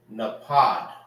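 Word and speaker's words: נפך: Emerald in Hebrew is napad. Napad. That's emerald in Hebrew.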